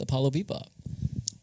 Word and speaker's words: Apollo Bebop: and we went with Apollo Bebop. And it's Apollo like the Greek god, Bebop like jazz. You spell it APOLLOBEBOP.